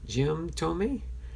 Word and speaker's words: Thome: Jim Thome.